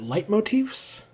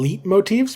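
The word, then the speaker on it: leitmotif: is it light motifs I used to pronounce them leap motifs because of the way it's spelled but I think it's actually light Motif let me double check yep according to Google it's light Motif so the more you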